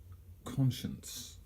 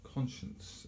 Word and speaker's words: conscience: it isn't its conscience two syllables conscience stress on the first and in the normal